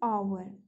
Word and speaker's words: hour: So hour, we don't say hour, H is silent again here. So we will go with the vowel sound. Okay, initial sound of vowel. It is hour, ah.